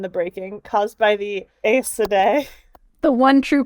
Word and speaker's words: Aes Sedai: Yeah, speaking of the taint, Billy Zane helpfully explains the taint and the breaking caused by the Aes Sedai. The one true pronunciation.